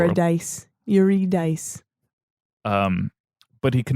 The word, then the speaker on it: Eurydice: him while walking out into the light it's pronounced dice Yu dice um but he could not look at her